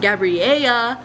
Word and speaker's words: Gabriella: it which you know is pronounced gabriele because the double l again makes a y sound yeah and it just